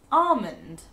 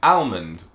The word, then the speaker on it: almond: The second word that people pronounce incorrectly is almond. Some people pronounce it almond because it has an L after the A, which makes sense, but it's not pronounced that way. It's got a silent L, and sometimes you do even hear people say, almond.